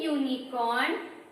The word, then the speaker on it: unicorn: the sound which comes, the opening sound which comes when we pronounce the word unicorn is this U. Yes, which starts with Y or Y sound is coming.